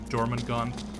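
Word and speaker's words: Jormungand: watching german gone the first time i mentioned it i'm sure somebody cringed at my pronunciation i thought it was because you know i assumed japanese anime gonna have a japanese name no i'm pretty sure that's german or something something equivalent equivalent uh but no that's how they pronounce it in the show dorman gone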